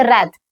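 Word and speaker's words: wrath: कह सकते हैं कि रैथ। एंगर के स्थान पे आप रैथ बोलोगे। आप ये डब्ल्यू को साइलेंट रखते, राइट।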